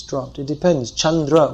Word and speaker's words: Chandra: Chandra would have to be, but then again they say Chanda. They change it.